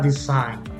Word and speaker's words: design: the sign design so note that the g is silent however th this i is long okay so we don't say this scene but design decide besides design design